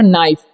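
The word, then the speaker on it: knife: अब लिखा हुआ है नाइफ, देखिए KN जब भी रहेगा साथ में तो के का उच्चारण नहीं होगा, ठीक है, यहाँ पर के साइलेंट हो जाता है, नाइफ का उच्चारण होगा तो नाइफ पढ़ेंगे, ठीक है।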